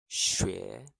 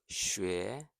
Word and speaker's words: 学: 学 So that's 学 to learn, to study. The X sound is like a soft she. Tongue forward near your teeth.